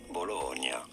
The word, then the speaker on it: Bologna: name of this city is normally said as bologna you don't want to stress on the middle syllable syllable once you know okay okay